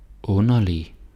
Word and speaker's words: underlig: Så undskyld, underlig, rund, sund. And again. Undskyld, underlig, rund, sund. Okay? Yeah, you can do it. D is silent. Don't say undskyld and underlig, rund, sund.